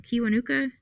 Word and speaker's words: Kiwanuka: Kiwanuka?